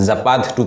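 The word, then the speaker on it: Zapad: But actual word जो है वो जापात था।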